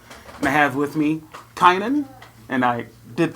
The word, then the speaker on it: Kynan: Round Rock Texas and I have with me Kanan and I did pronounce that right right you pronounced it correct